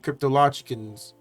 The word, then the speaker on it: cryptologicals: on air one time i said the logic and they said no it's not logical it's cryptological i was like oh shoot